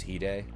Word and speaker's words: Hide: I don't recognize Japanese characters, but I know I have a friend that has a Japanese name and it's pronounced Hide.